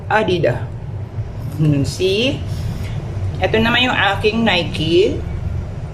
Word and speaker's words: Adidas: aking rubber shoes na Adidas Superstar siya ayan This is from Garnet my daughter Pero sabi nila ang right pronunciation daw is adida see Ito naman yung aking